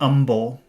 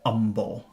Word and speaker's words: humble: and is asking about Umble certain people in the UK when they speak they do not pronounce the letter H at the beginning of a word that's a very common